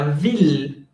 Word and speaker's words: ville: Y la otra forma de pronunciar ILL es il. Por ejemplo, la ciudad se dice la ville. Y es VILLE.